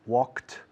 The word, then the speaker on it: walked: Work, worked, walk, walked, talk, talked, wash, washed, pick, picked, park, parked, kick, una patada, kicked, finish, finished, like, liked, watch, watched.